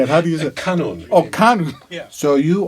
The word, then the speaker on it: kanun: What is a kunan? That sounds like a fruit you get at the grocery store. How do you say it? Wait a minute. How do you say it? Kanun.